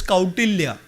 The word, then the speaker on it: Kautilya: I said, it is not Kautilya, it is Kautilya.